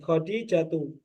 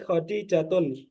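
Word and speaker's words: خديجةُ: itu enggak ditanwin ya khadijatu gak tun ya Jangan diucapkan Ismi khijatun asahih Ismi khadijatu ya kita ulangi khadijat Mas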